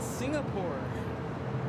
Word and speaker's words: Singapore: said o you have a singapur a Singapore I'm like what is that oh you mean Singapore apparently that's how they say it in South Africa I learn something new